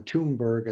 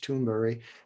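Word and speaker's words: Thunberg: interesting greater toonberry uh toonberg i guess how they say it in english but swedish toonberry she was in front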